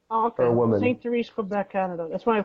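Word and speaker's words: Sainte-Thérèse: It was built in Canada, State Therese, Quebec, or Saint Therese, Quebec.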